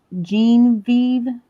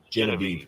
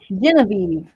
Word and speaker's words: Genevieve: It's uh I I think I mispronounced it. It's on Jeanve. Jean is spelled kind of weird. Genevieve. Genevieve. Gotcha.